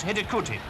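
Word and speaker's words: Hidegkuti: less than a minute the scorers name is pronounced headed cootie I hope it seems people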